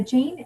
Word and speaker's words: Jain: the word Jane and a Jane or John you could pronounce it either or it's really kind of